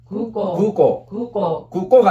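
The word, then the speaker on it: 空港: 그 다음에 오고소토노 이 5단 다음에 우는 우 발음을 이렇게 하지 말고 앞에 5단을 길게 하라고. 그러니까 우가 아니고 오를 이렇게 길게 하라고. 해봐. 구꼬가 아니고 오 이렇게 길게 하란 말이야.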